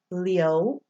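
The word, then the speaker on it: Liu: always pronounced yell okay so someone's last name might be Li you Uncle Leo okay Leo if you heard that the L at the front but then followed by yo leo okay why I'm sorry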